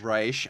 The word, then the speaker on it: Reich: reich pleasure to be here um it's reisch i'm sorry i'm sorry i'm sorry i got